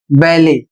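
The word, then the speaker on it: ballet: अगला शब्द है बी A double L ई टी जो फ्रेंच भाषा से आया हुआ है और इसे पढ़ा जाएगा बैले और इसका अर्थ होता है एक शास्त्रीय नृत्य शैली।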